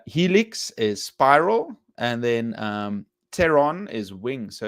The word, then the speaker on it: pteron: So it's like a pterodactyl, but it's so the P is silent. So pteron is like pterodactyl, but it's Pteron, which means wing.